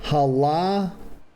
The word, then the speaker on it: Halatali: Vol says halatali. Halatali, okay. Well, I can do it when I've got a pronunciation guide.